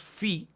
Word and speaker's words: fi: Ahora, después tenemos fi. Miren cómo se escribe y se pronuncia como una F, se translitera como una F.